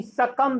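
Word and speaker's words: succumb: अगला question number 13 दिया गया है कि सकम शब्द में मूक अक्षर है, यानी कि साइलेंट लेटर जो सकम शब्द है इस माने आपका होता है हार जाना या मर जाना। इसमें आपका मूक अक्षर क्या है? तो यहाँ पर मूक अक्षर बी है, जो कि बी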